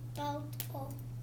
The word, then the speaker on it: Balto: Balto. 2. So ball, toe. Okay. So we got. Sounds like toe. Yep. Ball, and then toe.